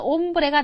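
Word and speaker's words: hombre: 발음 배우면서 뭘 배웠었나 옴브라 단어를 배웠었어요 아채 무음 한다 그러면서 그래서 옴브레가 남자 이거예요 그죠 남자인데 옴브레 남자 한 명 있잖아요 남자니까 남성이고 한 명이니까 단수니 얘에 맞는 정관사는 뭐다 옴브레 그러면 정관 사니까 딱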